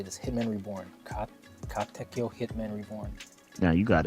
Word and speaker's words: Katekyo: Katekyo Hitman Reborn. Yeah, you got it. Katekyo.